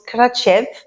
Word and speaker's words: Kratie: jours de voyage à krati qui se prononce katchev qui était absolument fantastique